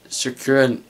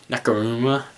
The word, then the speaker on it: Nakamura: like Samoa Joe and Finn Balor and maybe Sakura, I keep mispronouncing his name, Nakamura, and maybe even Asuka and Bayley.